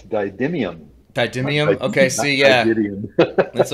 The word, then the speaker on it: didymium: It's Didymium.